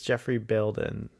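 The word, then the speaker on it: Geoffrey Bayldon: years up uh so I just heard uh the name uh pronounced by the way it is Jeffrey building yeah so I can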